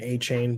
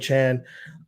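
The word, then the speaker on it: Achane: just read that he that's how he wants his name pronounced I know everyone's been saying a chain but stevonnie Chan uh really what a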